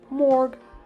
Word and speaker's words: Mark: The following day, it was time to meet up with my mate Mark, or pronounced Morg with his Welsh accent.